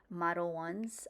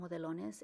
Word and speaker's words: Modelones: Another brand I do like is Model Ones. I kept saying modelones, and that's not what it's pronounced. I said it in Spanish, but it's Model Ones.